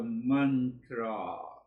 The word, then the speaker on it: mantra: So it has two syllables. Mantra. Mantra. So you can identify man is related to the mind. It means to think and to reflect. So what to think and reflect? That comes the meaning of the tra. The syllable is mantra. Man, first syllable, tra is the second.